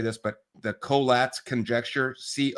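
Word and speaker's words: Collatz: don't know how to say this but the coats conjecture. Co o l l a tz the coats conjecture.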